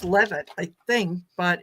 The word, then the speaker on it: Leavitt: And it's funny because when her last name it's pronounced Levitt, I think, but it is spelled Leavitt, which I would say was leave it.